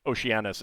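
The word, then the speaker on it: Oceanus: I'll be doing that for like all of them, which is why I had Okanos rather than Oceananis. Um because uh Okanos is the the Greek and Oceananus is the late Latin.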